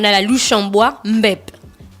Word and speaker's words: mbep: On a la louche en bois, mbep. M-B-E-P, c'est mbep, non? C'est bien prononcé, mbep.